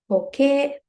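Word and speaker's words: 時計: Okay. So when you pronounce it, it is okay. It sounds like A, but in the spelling, it is E ending. Right? It is not A ending.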